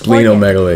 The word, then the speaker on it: splenomegaly: Splenomegaly is the enlargement of which splenomegaly. Organ? How about spleen? The it's spleen.